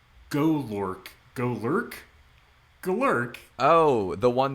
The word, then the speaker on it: Golurk: Is it Golurk? Like I imagine it's pronounced. It's like Gollum. Golurk.